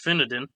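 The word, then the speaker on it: Finedon: Uh, so Finadin spelled like fine D O N but apparently pronounced Finadan in England is a small village located in Northamptonshire, England.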